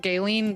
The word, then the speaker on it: Galen: Yeah, about the It's hard because it's it's pronounced Gaelen, but it's spelled Galen.